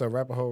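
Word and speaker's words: Arapahoe: No, it's Arapaho Road. Exactly. But it's not spelled like that.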